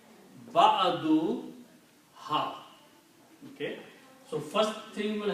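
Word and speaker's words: بعضها: it will be pronounced ba'aduha. Okay. When you combine a noun and a pronoun, then two dhammas are not pronounced. It is pronounced ba'aduha.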